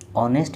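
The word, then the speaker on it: honest: आई तेणु आई पूर्व आन बसी एठारे देख ऑनेस्ट मैन ओ उच्चारण होची एच तो उच्चारण होनी हनेस्ट उच्चारण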